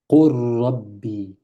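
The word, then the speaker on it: قُلْ رَبِّ: Et donc, au lieu de dire Qul Rabbi, c'est lourd. Qul Rabbi, qu'est-ce qu'on fait? Et ce qui nous indique que c'est comme ça, c'est qu'il y a une shadda sur le ra. Pourquoi il y a une shadda sur le ra? C'est pour nous dire qu'on va directement du qu au ra.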